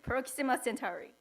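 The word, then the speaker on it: Proxima Centauri: Cent Centaurus yeah have you heard of it Proxima centuri yeah oh okay good and it it's said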